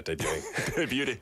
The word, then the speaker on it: debuting: Yeah, debuting. Debuting? The T is silent.